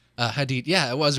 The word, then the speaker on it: Hadid: I always feel like I'm going to get her name wrong every time. Hadid. Hadid.